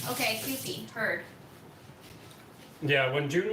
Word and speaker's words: Kewpie: Noreen says it's pronounced Kewpie. Okay, Kewpie, heard.